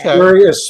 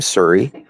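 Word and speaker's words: Surrey: yeah sir BC because there's a city Siri BC we say we even say Siri we say oh I'm Siri yeah I'm basically Canadian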